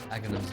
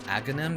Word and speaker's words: Aghanim: I used to pronounce his name Aganim. I don't know why. My dialect I'm used to speaking, I guess. But then I was like, okay, maybe it's Aghanim because it kind of rhymes with agony. And agony is like not good.